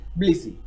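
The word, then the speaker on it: Tbilisi: है capital Georgia की बलिसी तो बलिसी टी साइलेंट है तो बलिसी इज द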